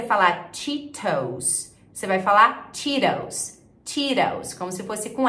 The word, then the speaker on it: Cheetos: Muitas vezes no inglês americano, quando a gente tem um T no meio da palavra, ele é reduzido para um R.